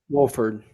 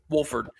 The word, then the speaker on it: Wolford: we now have Waldron how do you say his last name Wilford Wolford Wolford seems to have really